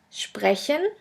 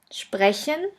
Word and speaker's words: sprechen: The next letter combination is SP, SP, ST, ST, which is pronounced like the letter combination SHP and SHT. Let's have a look at the examples. The first word is sprechen, sprechen, which means to speak,